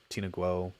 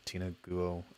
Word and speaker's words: Tina Guo: the tina google one i think i mispronounced her name tina guo tina guo um but you know